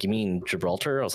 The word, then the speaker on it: Gibraltar: time and uh because I can't read or pronounce words and someone was like you mean Gibraltar I was like yeah that's the word not Gilbert yeah that's that's what I meant and